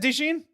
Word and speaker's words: DeJean: Is it DeJean? Yes. Yeah. I was like, wait, did I hear? I thought you said Deshaun.